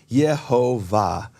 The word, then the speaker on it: Yehovah: with different pronunciations and both of those dialects of Hebrew preserve God's holy name the name of the father as yehovah now the shva looks